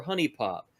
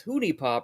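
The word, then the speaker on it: HuniePop: pronunciation of honey pop is it hoonie pop or honey pop please we've had my friend and i had a debate about this what is it and he responds back and he says people who pronounce our game name as hoonie pop are the reason that isis wants to kill us i feel bad about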